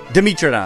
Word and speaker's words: Dimetrodon: Dimetrodon. Wrong. What? How did I even say it wrong? Oh, I get it. Metra. Like metric. Like, bro must be from Australia.